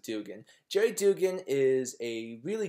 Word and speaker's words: Duggan: has to do with Jerry Dugan or Duggan I I pronounce it Dugan Jerry Dugan is a